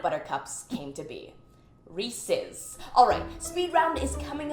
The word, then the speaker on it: Reese's: Reese's.